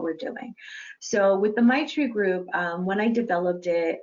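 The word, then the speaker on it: Maitri: was the might regroup M AIT RI is print pronounced my tree and my tree group my tree is based in loving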